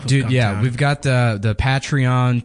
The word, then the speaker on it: Patreon: money off of Yeah, we've got the the Patreon p I said I used to call it Petrayon like General Petray. Suck it and That's how I thought you pronounced it and then somebody laughed at me